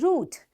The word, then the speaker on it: route: o u t e we pronounce it likewise root so what does this